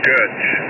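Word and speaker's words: Goetz: removed before 73 yeah his name is gut uh it's he's German g o e TZ and he says he pronounces it good and before you go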